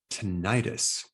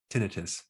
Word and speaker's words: tinnitus: Today, we're going to show you a technique on how to stop tinnitus, or you can pronounce it tinnitus.